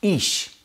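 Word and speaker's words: אש: Fire in Hebrew is pronounced ish.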